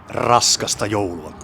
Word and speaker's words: Raskasta joulua: Raskasta joulua. I put a little bit more weight on the first R, because, well, we Finnish know how to say R, like Spanish do, for instance.